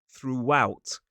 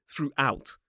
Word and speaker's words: throughout: start of the second, we add a little sound a little w sound to make that to make the transition a little bit easier. So, it is throughout. Throughout. It is not throughout. Throughout. It is throughout. Throughout. It's not massive. We don't need to say throughout. We say throughout.